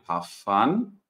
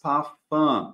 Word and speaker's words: Parfum: E, por se tratar de uma palavra francesa, a gente vai reter a pronúncia. Então, na hora de pronunciar, a gente não vai falar parfum, a gente vai falar parfum, tá? Como se fosse um ar contínuo aqui.